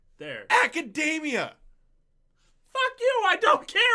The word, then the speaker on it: Academia: Other than My Hero Academy. Academy? Come on, man. Say it right. You're on an anime podcast. You at least got to put some effort, all right? My Hero Academia. There. Academia!